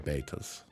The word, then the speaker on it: Trombetas: But if I go to here, now that I'm on this screen, am I pronouncing it correctly? I am not. The Trombetas River. Trombetas.